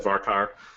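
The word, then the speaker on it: varchar: say very careful so everybody pronounces this differently and I mean it doesn't really matter I've always said varkar um anyway but I see people uh say convert to varkar all the time and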